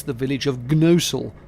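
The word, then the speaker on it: Gnosall: It's the village of Gnosul, though in reality you don't pronounce the G.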